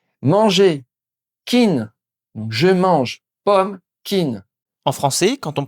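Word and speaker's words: ผม: C'est un P aspiré. C'est-à-dire qu'il faut souffler de l'air en même temps qu'on le prononce.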